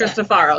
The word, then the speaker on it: Cristofaro: Just that last syllable, Cristofaro. That's Cristofaro, that's it. There's no I at the end.